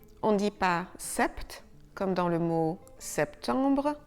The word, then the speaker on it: sept: Et SEPT: la lettre P à l'intérieur du mot est muette. On ne dit pas "sept" comme dans le mot septembre (September), on dit sept.